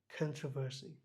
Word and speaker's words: controversy: বলছে না দেখি কন্ট্রোভার্সি, এখানে আরটা খুব ভালোভাবে উচ্চারণ হয় না, এই সাউন্ড হচ্ছে controversy.